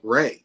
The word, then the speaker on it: Ray: cup I usually say Ray is Ray like the sunshine and so it kind